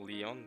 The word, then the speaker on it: Lion: Or not Lion, but Leon, but you know, Lion, Leon, yeah? Just, I mean, same spelling, different pronunciation, but you know what I mean.